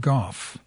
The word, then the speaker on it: Gough: This is titled 33 Gough It Is, pronounced Goff.